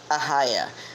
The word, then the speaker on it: Ohio: They say Nurk Ahaya, like A-H-Y-A, like I or H, A-H-I-Y-A, Ahaya.